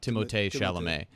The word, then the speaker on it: Timothée Chalamet: And they cast Timothée Chalamet or Timothée Chalamet, which is actually that's how you're supposed to pronounce his French, name. yeah. Timothée Chalamet.